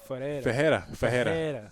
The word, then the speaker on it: Fajera: You said Fajera. So it's like the R's like H's.